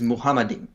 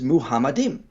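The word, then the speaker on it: מחמדים: are they getting it why are they constantly pronouncing this as muhammadin uh well actually throwing them a bone here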